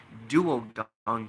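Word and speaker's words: Duo-Dawn: Why do I keep on saying Dao? Like that's how we always thought it was supposed to be pronounced, but it was actually Duo Don King Kaliuga.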